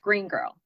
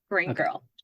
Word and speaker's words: Green Gurl: It's more of, it's supposed to sound like one word, Green Girl, Green Girl.